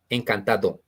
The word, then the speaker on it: encantado: And then we have nice to meet you, which is en cantata, right? On cantata. Encantado. Encantado.